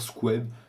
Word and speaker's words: Scube: Le nom, l'écriture est un petit peu bizarre, la prononciation aussi. Vous pouvez dire Squeb, les Français, les Polonais disent facilement ça, mais vous pouvez dire Scube ou Squeb ou peu importe.